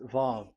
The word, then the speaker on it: vav: So it's V as in Vogue. So it's really V. How to read Vogue? So the word, the shape Vav is really pronounced V, like Vogue. That is it, pronunciation. So here in this side, it's pronunciation. This is pronunciation. So according to the old Hebrew word today, those who the owner of the words, I mean, so it's a V. So don't change it into W, and you will say